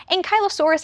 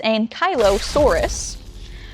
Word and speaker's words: Ankylosaurus: It does appear that many of them are pushing for Ankylo, like Kylo Ren, Saurus. You know what that means if it's Ankylo-Saurus.